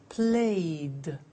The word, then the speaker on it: played: So, the pronunciation of ed becomes D. It becomes played.